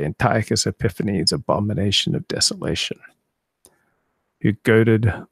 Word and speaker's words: Antiochus Epiphanes: the mad antiochus epiphanes my dad was always talking about antiochus epiphanes that's how you say it in english so i grew up as a little boy i'd say antiochus epiphanes abomination of desolation you